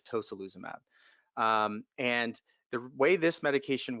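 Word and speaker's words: tocilizumab: is a medicine called tosyl uzum AB or toka lose a map however you want to pronounce it I believe the correct pronunciation is toh SaLuSa map and the way this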